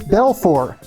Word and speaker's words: Belfort: whom I love equally the first one is bfor the tea is silent I'm sure I'm butchering that because I don't speak French anyway but at least I got that part right Belfor is an aristocratic spaniel